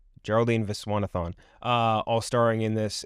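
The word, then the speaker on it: Viswanathan: I always get her name wrong. Visanathon. Geraldine Viswanathon.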